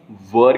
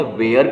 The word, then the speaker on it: were: इसमें जो इफ वाला पार्ट होता है ना, उसमें वर का यूज होता है, WERE, वर। इसे वेयर कई लोग बोलते हैं। Make sure not to pronounce it like वेयर।